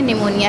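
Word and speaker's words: pneumonia: यहाँ पे piece silent है, निमोनिया है ये।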